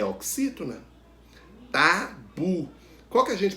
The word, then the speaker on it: tabu: Tabu. Qual que a gente pronuncia com mais força? Qual é a sílaba tônica? O bu, a última sílaba. Então, tabu é uma palavra oxítona.